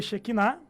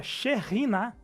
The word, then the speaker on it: Shekinah: Ô, Gabriel, e pior, ela não pronuncia Shekinah, seria Sherinah, com... Sherinah.